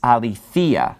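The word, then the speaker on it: ἀληθείᾳ: case so it is a lethea so it's pronounced a little bit differently because the accent is falling on this later syllable that accent marks right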